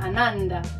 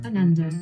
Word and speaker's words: Ananda: Ananda. Andy? Ananda. Anand? Ananda. The emphasis is on the first syllable. A like father, as in I hurt my foot. Nun as in a nun who works in a church, cathedral.